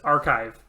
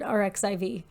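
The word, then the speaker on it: arXiv: course it is because it's just archive um that makes it a whole lot easier because i've only ever heard rxiv so i'll say archive now thank you yeah so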